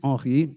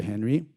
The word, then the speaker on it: Henri: My name is Henri, and that is the pronunciation, if you can say it. Henri, I'll answer to that. I even answer to Henry, if you have a hard time with the throat stuff with the R.